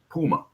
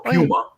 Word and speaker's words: Puma: model or the miniart Puma or Puma as it's properly pronounced but I think we call it Puma over here um a full interior